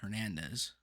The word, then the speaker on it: Hernandez: it would have been Hernandez. Yeah, the R. daycare center I worked at, there was like 7 Hernandezes, The H is silent.